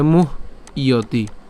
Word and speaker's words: মুহ্যতি: এখানের ক্ষেত্রে মুহ্যতি অর্থাৎ ম রস্যকার হ পর্যন্ত আমরা উচ্চারণ করছি, মুহ। এরপর জফল উচ্চারণ কার মতো হয়? ইয়র মতো হয়, তাহলে মুহ্যতি।